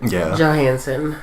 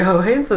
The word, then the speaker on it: Johansson: Because the J is pronounced a H. Yeah. Just to clarify that you're not calling her a hoe. No. In Spanish, J's are pronounced as the H sound.